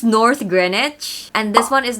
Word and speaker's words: Greenwich: It's not North Greenwich. This is North Greenwich.